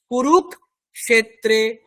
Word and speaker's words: কুরুক্ষেত্রে: দিয়ে দিন, তাহলে ধর্মক্ষেত্রে কুরুক্ষেত্রে। ধর্মক্ষেত্রে কুরুক্ষেত্রে। হ্যাঁ, আপনি কুরুকের পরে একটু সময় নিন, ধর্মক, তারপরে মূর্ধন্য স্বয়কার বলুন, ধর্মক্ষেত্রে কুরুক্ষেত্রে।